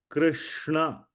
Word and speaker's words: Krishna: Remember, we had the Hare Krishna Mahamantra right here. So Krishna, we all know this is pronounced as Krishna.